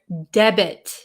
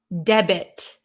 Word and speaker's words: debit: the t is silent in this word debit the t is pronounced okay oh hello from